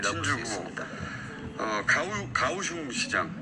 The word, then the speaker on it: 가오슝: 가오슝 시장. 네. 정확하게는 발음이 어떻습니까?